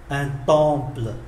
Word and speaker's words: temple: Chúng ta để ý chữ M mà đứng trước P thì phát âm như là N, un temple, đình, hoặc là cái đền, hoặc là cái miếu.